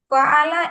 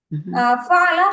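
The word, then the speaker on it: فعل: Yeah, which rhyme with nasara.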